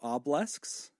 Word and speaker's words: obelisk: that I called you obelisks. Apparently, you have an extra syllable. And so from now on, I will refer to you as obelisks. Right? You still can't say it right. It's the extra syllable.